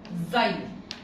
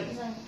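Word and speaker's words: xylem: قصدي اللي هي اللي اسمها زايلم ماشي. هو انا عارفها بس ايه، بس لا مش عارفه زايلم. لا انطق اكسايلم، ممكن تنطقها بقى بسرعه. زايلم ماشي.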